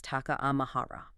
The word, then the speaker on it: Taka-Ama-Hara: And for our exploration today, uh the ancient pronunciation we must keep in mind for this location is Taka Amahara.